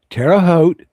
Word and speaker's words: Terre Haute: Terra Hote. Rhymes with boat.